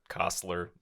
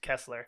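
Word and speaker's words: Koestler: got Nick Cage's John costler uh Rose Byrne is Diana I think it's pronounced Kessler Kessler thank you uh and really Ben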